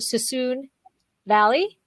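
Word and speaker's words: Suisun Valley: i want to talk a little bit about sassoon valley yes i just said it right makes me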